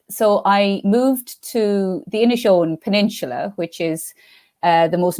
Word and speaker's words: Inishowen: Tell me if I'm saying this right. It's the Inishowen, is that right? Inishowen Mystery Series? Inishowen Mysteries. So I've been basically saying it wrong for a long time.